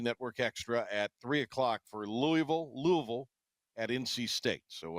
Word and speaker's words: Louisville: Don't call him Louisville. Now it's L V. Two syllables. Louisville, right?